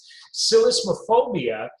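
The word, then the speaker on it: psellismophobia: why i had to really think before i pronounced it silicophobia is the fear of stuttering what do you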